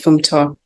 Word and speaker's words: Funmto: Welcome, Funmto. I don't think I pronounced your name properly. No, it's lovely to meet you. Hi, my name is Funmto. It's pronounced Funmto. Funmto.